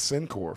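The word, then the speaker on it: Cincore: For me, bro, I remember her name, Miss Sincor, 4th grade. Miss Sincor, C-I-N-C-O-R-E. Wow. Oh, yeah. That's Shout so out Miss hot. Sincor. Yeah. Sincor, but it's spelled different.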